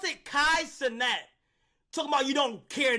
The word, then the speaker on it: Kai Cenat: Pronounce it Kai Cenat.